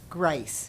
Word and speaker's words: Grice: Grice. Grace. Uh-huh. Not like how it's spelled.